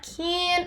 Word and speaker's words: keen: Esse keen é bem som de I mesmo. I'm not keen on.